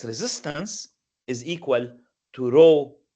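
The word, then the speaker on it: ρ: So I give it the symbol rho, the Greek letter for R. It looks like a P in English, but it's actually pronounced R, so it has the R sound.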